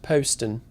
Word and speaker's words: Poston: And actually, I think you'll find it's pronounced Poston.